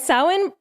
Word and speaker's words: Samhain: that it's it's spelt samhain s-a-m-h-a but it's pronounced samhain and i know that because i googled it and practiced it and sawin celebrates the end of summer and it welcomes